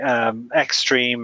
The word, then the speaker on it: XTRM: Another one would be Xstream or XTRM, they're pronounced.